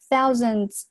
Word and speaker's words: thousands: 它是一个 ow，是一个双元音 thou thousand 这个地方是 z，然后这个是一个弱读 thousands，以及结尾这个 ds 连到一块注意是 z，不要读成 s 或者是 z 都不对。Have participated, 注意下这个单词 party,